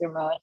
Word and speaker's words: Ramon: Yeah, you pronounced it correctly. Yeah, it's Ramon.